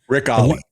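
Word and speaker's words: Rick Olié: There's Rick Olay or Oi or however you say his name. Rick Ali.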